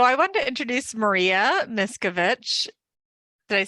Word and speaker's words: Miskovic: So I wanted to introduce Maria Miskovic. Did I say that right, Maria? Yeah. Miskovic. Miskovic. It's ick.